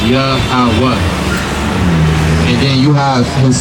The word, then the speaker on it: Yahweh: It's pronounced Yahweh.